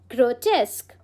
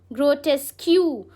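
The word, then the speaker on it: grotesque: ग्रोटेस्क। इट्स नॉट ग्रोटेस्क्यू। बहुत लोग इसको ग्रोटेस्क्यू कहते हैं। वो लास्ट में ना आदत हो जाती है क्यू क्यू कहने की। Know grow test.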